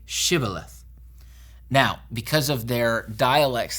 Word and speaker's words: Shibboleth: language they would say sibileth they didn't pronounce the sh properly because of their dialect so they use this